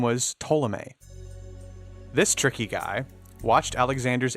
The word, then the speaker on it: Ptolemy: It is, but I obviously the P silent, and I fully was like, no, I think it's Ptolemy. Yikes! I'm sure that it's not entirely silent. I'm sure that it's in there because it's trying to convey some sort of a local pronunciation. You know what I mean? But I don't think it's quite as hard as Ptolemy.